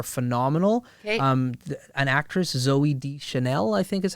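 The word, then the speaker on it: Deschanel: two both are phenomenal um an actress Zoe D Chanel I think is how you say her last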